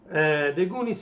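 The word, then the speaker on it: The Goonies: The Gonis. The Gonis are good enough. Così si legge in inglese, scusate la pronuncia, ma The Gunis are good enough.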